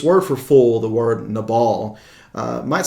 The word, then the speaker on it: Nabal: fool now this word for full the word nabal uh might sound familiar to us because it's actually guy's name from first samuel chapter 25 the the wicked man uh we pronounced his name nabel he was a a very stubborn man he